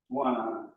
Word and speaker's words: guanine: Kind of like guana is for bats, guanine is for, and I may be pronouncing it wrong. It's spelled exactly like iguana for bats, except I-N-E on the E. Guanine.